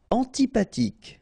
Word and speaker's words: antipathique: Antipathique. So remember this H doesn't exist phonetically, so antipathique.